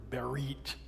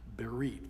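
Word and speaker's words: בְּרִית: In the Hebrew it's the word berit. With English letters you'd spell it be e r i t. Berite.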